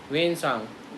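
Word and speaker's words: Hiuen Tsang: यात्री आया वह आया वेन सांग इसको वान सांग लिखा हुआ है टी साइलेंट है तो वेन सांग वैसे इसका प्रोनंसिएशन है आप पूछे फन कब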